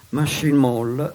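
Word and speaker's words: Matching Mole: McCormick, formerà i famosi Machine Mall, che pronunciate alla francese viene fuori Machine Mall, vale a dire Soft Machine.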